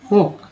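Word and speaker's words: folk: से फिशर हो गया, फोक, यहाँ एल जो है साइलेंट है, फ्रेंजी पानी, पैनी, फोर्ट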